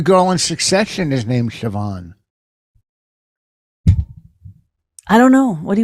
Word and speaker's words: Siobhan: These are are uh Keva nimba Simas Siobhan is spelled s-i-o-b-a-n that's Siobhan okay Maureen tag Selah I mean they're they're